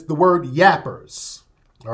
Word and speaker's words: gaper: They call them yappers. It's spelled G-A-P-E-R.